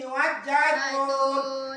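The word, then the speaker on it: وَالزَّيْتُونِ: Wajjaitun ini enggak ada juga di sini. Ya, nggak ada juga tanda bacanya, makanya ini langsung kita baca wajjaitun.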